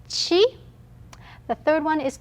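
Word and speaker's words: ち: sound now second one is not t it is chi the third one is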